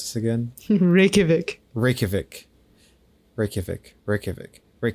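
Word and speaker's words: Reykjavík: I pronounce this again rikic rikic rikic rikic Rik the J is like a y I see that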